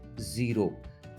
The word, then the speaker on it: cero: सबसे पहले आता है ज़ीरो। ज़ीरो को हम स्पेनिश में ज़ेरो बोलते हैं, ज़ेरो।